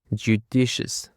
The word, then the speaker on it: judicious: Now, for the seventh word, we have judicious. Judicious. The stress is on the Sorry, the stress is on the second syllable.